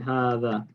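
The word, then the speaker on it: هذا: When we add it to the that, we drop the alif. So we don't say hadha. We don't write hadha, but we pronounce it hadha. That's why we pronounce the alif after the ha.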